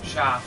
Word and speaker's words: Xia: Sha. No, XIA. Yeah? Sha. I'll take your word on that because Chinese pronunciation confused me.